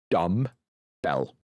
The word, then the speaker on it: dumbbell: The B is silent, so it's just dumb bell.